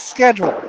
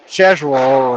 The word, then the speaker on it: schedule: is the word schedule it's schedule not schedu roll or ches roll that's just that's just